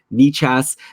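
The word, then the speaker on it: Nečas: It's spelled Necas, but I think we looked this up before we were talking about him last summer, and it is Martin Nichas.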